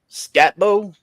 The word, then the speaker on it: Skattebo: But that boy number 4 for Arizona State, I don't know how they say his name, Skatbo, Skattebo.